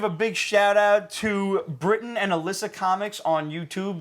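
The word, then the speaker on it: Brytton: showing off their collection and everything uh it's Britain spelled b r y t t o n but pronounced like the country Brighton and Alysa who's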